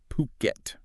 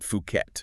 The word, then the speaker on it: Phuket: It's Puket. Okay. Not Fuket. Exactly. Crucial pronunciation point there.